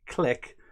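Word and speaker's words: Klich: storage club number eight says it's it's clay with with just a h so that's that's who pronounce it and i love uh guy parfits um he says you've gotta say click but in a scouse accent i don't want to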